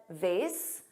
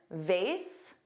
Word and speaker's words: vase: Both pronunciations, vase, which rhymes with face, and vase, which has an ah but a z sound, both are used in American English, which is interesting because vase is the American pronunciation and vase is the British pronunciation, and generally in American